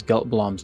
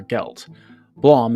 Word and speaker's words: Geltblöm: powerful gold wizard Balthazar gelt Blom is just a fake german-ish way of saying Blum as I'm sure you've